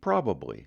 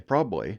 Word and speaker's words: probably: the state's college campuses you will hear youngsters saying the word probably probably three syllables however you get out in the puck a brush of Maine and you're going to hear that reduce down to two syllables probably probably as in